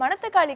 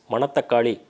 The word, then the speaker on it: மணித்தக்காளி: பார்க்கக்கூடிய உணவுப் பொருள் மணத்தக்காளி மணத்தக்காளி அப்படின்னு சொல்றதை விட மணித்தக்காளி அப்படின்னு சொன்னீங்கன்னா அது சரியான ஒரு பெயர் உச்சரிப்பா இருக்கும் பொதுவா மணி அப்படிங்கிற பொருள்